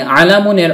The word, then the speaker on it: عَلَمٌ: ফলে আলামুনের অর্থ দাঁড়ায় একটি পতাকা। অনেক সময় আমরা আলাম বলে থেমে যাই, শুধু আলাম উচ্চারণ করে মুখস্থও করে থাকি, অর্থাৎ ওয়াকফ করে ফেলি, মানে শেষের তানউইনুনটি উচ্চারণ করি না।